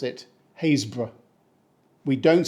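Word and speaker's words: Happisburgh: now they pronounce it hazb we don't say hapb or happyb and if you're trying to find the happiness in this name good look it's pronounced like the start of a haystack now hazb is home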